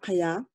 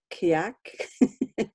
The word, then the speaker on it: Kyak: I'm Kaya. That's how I say my name. And if you see it written, you would say Kyak. But we pronounce it Kaya.